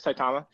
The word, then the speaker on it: Saitama: Saitama?